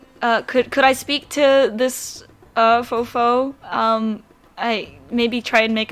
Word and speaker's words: Fofo: Fofo, like F-O-F-O. Okay. I thought you said I thought it was faux full, F-O-H, like an F-O-N. L. That's why. No, Fofo. Okay.